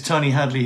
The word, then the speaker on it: Tony Hadley: far as I'm concerned you pronounced my name absolutely correctly Tony Hadley you might have said Hadley is slight accent but as far as I concerned you know you you you said my name correctly so you should be